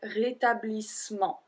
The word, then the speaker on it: rétablissement: Rétablissement. Technically, we don't pronounce the E after the double S, so we will say rétablissement.